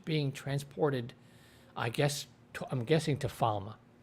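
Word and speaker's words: Falme: Perrin is in a sort of horse and carriage being transported, I'm guessing to Falma, which the show is pronouncing Falm. I don't know. I always pronounce it Falma from the books.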